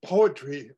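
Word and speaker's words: poetree: bit of explanation the the final word of this poem it pronounced is poetry but in the written form it's p-o-e-e-t-r-e-e you know I the tree that grows out of the ground Okay so new green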